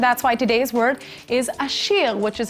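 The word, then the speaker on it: עשיר: Well, there's a new #1 richest man in town, and that's why today's word is ashir, which is how you say rich in Hebrew.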